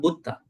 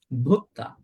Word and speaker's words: bhutta: Every word has to be pronounced with an aspirate, a breathing voice. Not Buddha, Bhutta, not Boga, Bhoga, not Bata, Bhata, not Bacha, Bhacha.